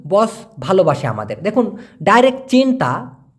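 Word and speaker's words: cinta: বস সায়াঙ্কান কামি বস ভালোবাসে আমাদের দেখুন ডাইরেক্ট চিন্তা সি আই এন টি এ উচ্চারণটা হবে সি কে যেহেতু চার উচ্চারণ করে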